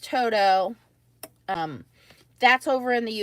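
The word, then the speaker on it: Todo: are the toto plates t-o-d-o it is pronounced toto um that's over in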